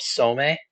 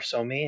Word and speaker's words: Somme: And the one of the larger gains was the Battle of Somme, or Somme, as some pronounce it, where Britain pushed Germany back.